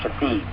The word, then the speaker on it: Shithead: S-H-I-T-H-E-A-D. Shithead. But it's pronounced Shafid.